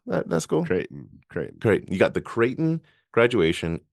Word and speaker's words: Creighton: How do you pronounce that school? Creighton.